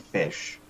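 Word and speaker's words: ghoti: the name was getagotti a creative respelling of the word fish used to illustrate ignorance he's an english spelling pronunciation uh if you use the gh from tough the o from women and the ti from any like shun then you get fish saying that notable anomalous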